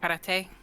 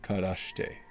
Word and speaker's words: Karashte: Karate? Karate? Sorry, I said it wrong. Karashte. Karashte.